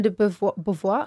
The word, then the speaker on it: de Beauvoir: We have chosen as number 1 Simone de Beauvoir.